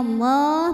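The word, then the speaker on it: الله: Lam pada lafaz Allah atau lam jalalah dibunyikan secara tafkhim sebab huruf sebelumnya berbaris fathah, maka dibacanya tebal. Bunyinya Allah, maka lidah dinaikkan.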